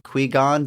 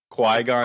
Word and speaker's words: Qui-Gon: When the Galactic Trade Federation sets up a blockade around the planet of Naboo, the Galactic Federation sends Jedi Knight Qui-Gon Jinn and his apprentice Obi-Wan Kenobi to meet and reason with the Federation trade leader.